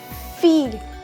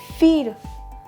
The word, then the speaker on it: fille: Okay, so it's feel. We don't pronounce or we don't have a letter L in French, so that's why we call it as feel. Okay, feel, which means girl.